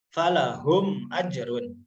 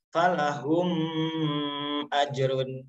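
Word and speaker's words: فلهم أجر: Cara membacanya harus jelas. Falahum ajrun. Maka jangan dibaca seperti ini. Falahum ajrun. Nah, itu salah ya.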